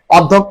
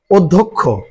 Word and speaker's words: অধ্যক্ষ: স্বাভাবিকভাবে যে উচ্চারণ হয় অধ্যক্ষ সেইভাবে বলার চেষ্টা করবে। কিন্তু আসলে এটার উচ্চারণটা সঠিকভাবে বলতে গেলে কিভাবে বলতে হবে? অধ্যক্ষ অধ্যক্ষ। তাহলে এটা হল সঠিক উচ্চারণ।